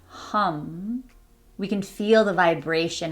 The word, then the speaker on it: HAM: I will also say it looks like ham but it's not pronounced like ham it's pronounced h hum so if you want